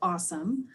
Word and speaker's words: OSCIM: school districts in oregon it's oscim and we pronounce it awesome um and so we're